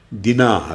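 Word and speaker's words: Dinah: spelling करताना फरक असतो आम्ही जीव लोक आकारांत शब्दाचे स्पेलिंग करताना शेवटी एच लावतो दिना या शब्दाचे स्पेलिंग इंग्लिश लोक डी आय एन ए दिना असं करतात तर जीव लोक डी आय एन ए एच असं करतात पण उच्चार दिना करायचा हे माहित नसल्यामुळे अनेक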